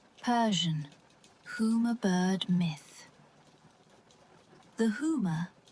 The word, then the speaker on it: Huma: The Huma, pronounced Huma, is a legendary bird often described as never landing on Earth.